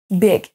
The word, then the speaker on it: big: Et le dernier, big, big. Et vous voyez qu'on ne peut pas deviner juste parce qu'il y a un i, on ne va pas les prononcer, beard, tim et big.